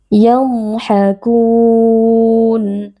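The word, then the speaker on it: يضحكون: Huruf dhad memiliki sifat rokhawah, yaitu suara yang mengalir ketika kita membacanya dalam kondisi sukun, jadi tidak boleh diputuskan atau dipantulkan. Tidak boleh dibaca yadhhakun atau yadhhakun. Yadhhakun. Nah, di sini ada mad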